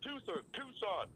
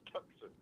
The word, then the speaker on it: Tucson: Tucson. Because it's spelled T-U-C, don't make it Tucson.